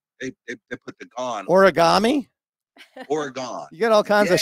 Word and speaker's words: Oregon: yeah my all right Oregon or Oregon how do you say it Oregon Oregon all right just guys if you're listening that's how you say it okay or or oron or it depends on what you know what side of the coin you live on some people say oron they put the gone